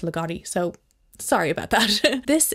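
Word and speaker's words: Ligotti: scribe by thomas legotti it's a legato or loogootee i feel like i always said legote but i think it's actually pronounced legati so sorry about that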